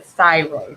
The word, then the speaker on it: thyroid: your whole systems so thyroid so th y r o i n d thyroid okay so t h go together y is obviously sounding like a long i r o i